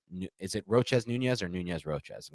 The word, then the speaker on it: Nunez-Roches: So it's always Nunez-Roches.